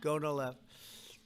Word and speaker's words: Gonal-F: most popular drug of all, the IVF drug Gonal-F. So it's Gonal-F. Is that a proper pronunciation? Very Close well enough, done. right? Very well done. Gonal-F.